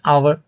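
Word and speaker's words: hour: जैसे कि एन आवर, एच जो लेटर है ये एक कॉन्सोनेंट लेटर है, लेकिन जब इसे हम प्रोनाउंस करते हैं इस वर्ड को, आवर को, तो ये एक वावेल साउंड से स्टार्ट होता है।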